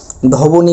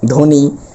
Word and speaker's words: ধ্বনি: এটার উচ্চারণ হবে স্বদেশ ধবনি বলতে পারবো না অর্থাৎ ব এর কোন উচ্চারণই আসবে না সেটা হবে ধবনি তারপর এটা হল জ্বালানী অর্থাৎ ব এর কোন উচ্চারণ হবে না।